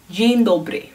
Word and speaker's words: dzień dobry: You say dzień dobry.